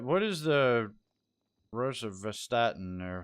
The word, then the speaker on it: rosuvastatin: All right, what is the rosuvastatin, or how do you pronounce that?